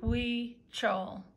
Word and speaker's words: Huichol: c h o l the h is pronounced like a w we chow it these people are